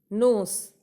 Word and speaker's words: knows: नोस, नोस मतलब होता है जानना। यहाँ पे KNOWS जो नोस है उसमें K साइलेंट है, तो इस नोस का मतलब होता है जानना।